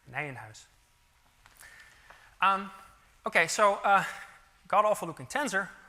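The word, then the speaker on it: Nijenhuis: a word on pronunciation so I often hear this pronounced as n ho or something like that okay so I think Albert nanh house was a Dutch mathematician and so it's called Nan house um okay so uh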